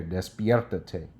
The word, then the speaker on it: despiértate: Okay, so te is the first one. Ta is the 2nd syllable. So the 3rd syllable from the end is pierre. Well, there's 2 vowels. Always choose the 2nd one, so it's going to be option right there.